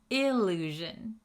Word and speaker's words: illusion: Listen to that pronunciation difference. Allusion, illusion. Can you hear the difference?